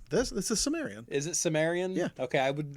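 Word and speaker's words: Cimmerian: Okay, I never knew if it was a soft C or a hard C or if there's any weird pronunciation. You'd think that it would be a hard C because Celtic is, Yeah.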